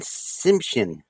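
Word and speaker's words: Tsimshian: The Simsian. Yeah, I'm sure the T's are probably a little silent. They're silent. So, I'm going to say the and Simshin. Simshin.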